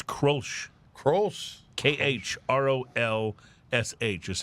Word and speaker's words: Grolsch: How about Grolsch or Krolsch or Grosch, which is pronounced... It's Grolsch. Actually, it's not. That's the mispronunciation. Then what is it? It's Krolsch.